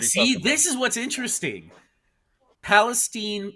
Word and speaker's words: Palestine: Palestine. It's pronounced Palestine, but it's Palestine, Ohio.